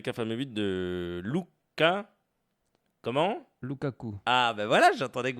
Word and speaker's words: Lukaku: Lukaku.